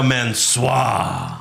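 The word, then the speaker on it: Mån.sôör: And Mansoor is now Mansoir. Mansoir. With plenty of accent marks.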